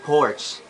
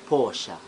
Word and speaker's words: Porsche: Most of us ay napopronounce to ng porch. Pero ang tamang pag-pronounce nito guys ay Porsche.